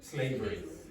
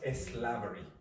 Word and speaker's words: slavery: So if you do put in that e sound, it will not be that problematic. Okay. But the technical pronunciation is slavery, not eslavery.